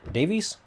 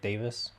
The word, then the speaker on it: Davies: This afternoon, I am with Davies. Yep. Sometimes when it's spelled the same way, people say it's like Davis.